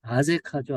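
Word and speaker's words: Azekah: 그 다음에 아세가, 영어 발음으로는 아제카죠, 아제카.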